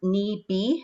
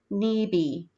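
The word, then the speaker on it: nibi: word water is pronounced knee b so instead of a p it's a b sound this time let's give it a try on three one two three knee b um and then deny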